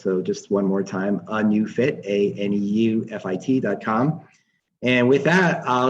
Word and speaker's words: ANeuFit: So let me just kind of recap that the company is called ANeuFit, but new is not spelled N-E-W, it's spelled N-E-U, because that's super cool.